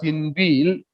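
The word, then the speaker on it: inveigle: As he tried to unveil me close enough to the wire, unveil is it's pronounced as inveal.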